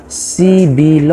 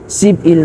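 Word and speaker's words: 십일: अब यसको उच्चारण चाहिँ ब माथि गएर सिबिल भनेर उच्चारण गर्नु पर्यो। यसको चाहिँ सिप इल नभनेर सिबिल भनेर उच्चारण गर्नु पर्यो।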